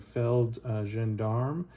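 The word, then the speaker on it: Feldgendarmerie: force this is a i believe it's pronounced something like feld zhendarma it's uh kind of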